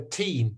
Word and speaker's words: teen: I'm stressing the teen. That's right. I'm stressing the second syllable.